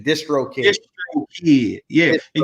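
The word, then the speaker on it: DistroKid: Once you get your BMI, get your song trust, get your sound exchange, get your Driscoll Kid, if I'm saying it right. Distro. It's short for distribution. Distro Kid.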